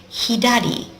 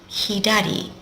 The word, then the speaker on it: 左: is left here it is over here it's pronounced hiad hiad and it's left I wonder what it used